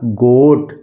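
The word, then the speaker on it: goat: जी ओ ए टी जी ओ ए टी तो क्या हो गया यह जोट नहीं होगा यह हो गया गोट इसी तरह जी ओडी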